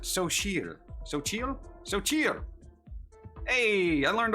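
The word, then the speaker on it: Xochitl: Oh, look, they tell you how to pronounce it. Sochil.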